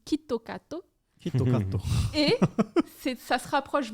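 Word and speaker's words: キットカット: nom donc kit kat en japonais ça se prononce quitte au cateau et c'est ça se rapproche beaucoup de quito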